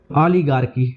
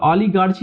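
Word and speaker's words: oligarchy: ओलीगारकी ओलीगारकी मतलब होता है कुछ लोगों का शासन इसको ओलीगार्डची मत पढ़ लेना यह है ओलीगार्गी प्रोनाउंसिएशन इसका होगा ओलीगार्की कुछ लोगों का शासन इसमें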